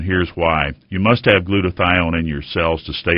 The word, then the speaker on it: glutathione: in your body glutathione doctor what is GL glutathione am I pronouncing it right oh that's exactly okay good